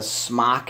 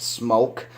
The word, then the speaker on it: SMOK: people pronounce it a smock it is pronounced smoke SM okay Brant and